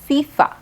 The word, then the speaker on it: FIFA: a look at this one fifa but we pronounce it as fifa right these kinds of abbreviations when we pronounce